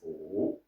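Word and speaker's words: 武: Our style is Wu, 3rd tone, and the other is Wu, 2nd tone.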